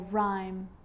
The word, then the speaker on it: rhyme: And sometimes the H is not pronounced when it follows any of these three letters: C, G, or R. Now most of the time, CH is pronounced ch, but on small occasions or rare occasions, it's not pronounced. The H is silent. So it's choir, choir, echo, echo. With a G, ghost, ghost. And with an R, rhythm, or rhyme.